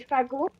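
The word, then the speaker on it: fagot: sticks is called a fago. You don't pronounce the t at the end because the like the it's silent.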